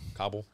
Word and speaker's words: Kabul: yeah they knew yeah how do you say Kabul or Cobble Kabul okay yeah we never should